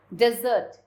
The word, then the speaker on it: desert: Here's the difference of pronunciation. Desert, sandy region. Desert, sweet food served at the end of a meal.